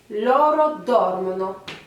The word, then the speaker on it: dormono: Et enfin, le dernier, vous avez retenu que on accentue un peu plus la première syllabe. Loro dormono.